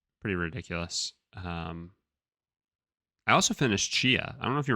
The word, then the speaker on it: Tchia: I also finished Chia.